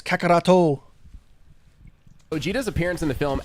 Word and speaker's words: Kakarot: of Go, but in actuality, it's because of Kakaroto, because that's how his name is. That's how Goku's name is pronounced in Japan. We call it Kakarot in America, but in Japan it's Kakaroto.